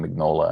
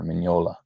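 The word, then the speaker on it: Mignola: I really wonder how much uh, Mola, Mola, I'm used to saying Mnola and I'm trying to pronounce it proper, Mola.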